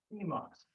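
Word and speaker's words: します: So it's one, gai, shimasu. That's S-H-I. I's are pronounced as E. Shimasu. S-H-I-M-A-S-U. U is silent.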